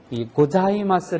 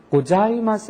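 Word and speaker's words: ございます: 혓바닥이 위 붙어야지 됩니다 사가 아니고 자 해서 혀가 붙었다가 떨어지는데 자 발음을 하는 발음하고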